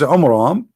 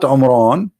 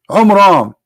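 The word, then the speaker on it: Amram: the father of Moses, which is Umram, not Umran. Imram. Wrong pronunciation, wrong name. I mean, have you ever heard of a God? He cannot even pronounce a Hebrew word. Umram.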